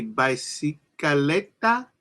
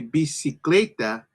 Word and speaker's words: bicicleta: going to sound very similar. So you got a bunch of B's in here where you see. So even with the VA, pronounce it as a B.